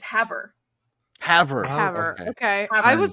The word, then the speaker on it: Havre: Havre. Havre. Okay. Havre. I was about to guess Harvey, so like we're getting Nope.